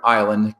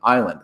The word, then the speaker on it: island: They thought the word island came from Latin insula, and so they stuck an S in there, but it didn't come from insula. It came from a German root, and that's how we got a silent S in island.